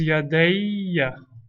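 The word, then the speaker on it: يَدَيَّ: But when yadayne becomes mudaf to ya, we drop the noon. Becomes yadayya. We add the fatha to make it pronounceable.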